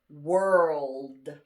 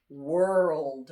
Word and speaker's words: world: okay the next word this is a hard word to pronounce because it has an r and an l next to each other this is world world right so we just